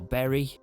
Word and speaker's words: Bury: Yet again against Bury. Or Berry. I always used to say that wrong because I said it how it's spelt.